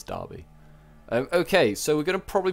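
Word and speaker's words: Derby: Dobby been destroyed okay basically Darby anyway spells in a funny way but is Darby okay so we're gonna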